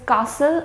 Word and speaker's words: castle: as well for example in words like this this is Castle not custard that it will be